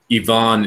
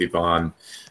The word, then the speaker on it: Ivan: for names just ask Yvonne is actually the standard Russian pronunciation so we can go with Yvonne I don't think there's